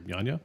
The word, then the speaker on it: Yanya: Know If You're Yanya.